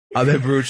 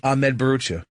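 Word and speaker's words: Bharucha: Comedian, say it properly. Ahmed Barucha. Yes. Is coming in studio.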